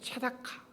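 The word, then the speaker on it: צדקה: 많이 두지 말라고 말씀하셨던 공이라는 히브리 단어는 세다카입니다 짜데크라고 읽기도 하고 체다카 이렇게 읽기도합니다 공인은 약자와 소외된 자에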